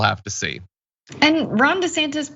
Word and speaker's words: DeSantis: I think that Trump would be more dangerous than a Ron DeSantis.